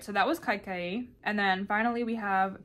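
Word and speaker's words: Kaikeyi: It says she's the only daughter of the kingdom of Kakaya. I found a video from the author, and I'm gonna hear her pronounce it. Okay, I was definitely pronouncing it wrong. She's pronouncing it Kaikaye.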